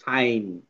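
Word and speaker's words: sign: জিটা এখানে সাইলেন্ট হয়েছে। সো আমরা পড়বো সাইন সাইন সাইন ঠিক আছে জি এর উচ্চারণ নাই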